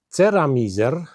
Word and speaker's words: Ceramizer: Jadi saya pilih yang ini dan ini produk buatan Polandia, jadi dibuat di Polandia, namanya Ceramizer, itu mereknya bukan Ceramiser, itu merek Polandia, jadi Anda lihat, Anda bacanya seperti ceramizer, dan perusahaan ini punya